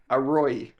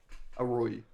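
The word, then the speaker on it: อร่อย: Anyway, Arroy. Oh, Roy. Bro, my pronunciation off by 100%. But A-ROI. Arroy.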